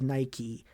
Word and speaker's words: Nike: And the company has said it is Nike, like the goddess of victory, Nike.